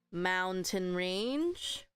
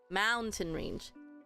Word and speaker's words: mountain range: range range mountain range and then again the stress is here you don't hear mountain range it just sounds weird mountain range so the stress is at the front and same thing here